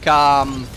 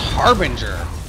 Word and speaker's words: Harbinger: Like, I hear some people pronounce it like, Hairbringer. And I'm like, it's pronounced Harbinger.